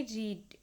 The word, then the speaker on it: read: Being declared bankrupt ही रीड sorry यहां रीड नहीं इसे रीड पढ़ेंगे कि उसने पढ़ा तो स्पेलिंग तो सेम होती है सेकंड फॉर्म थर्ड फॉर्म की बट प्रोनाउंसिएशन चेंज हो जाती है।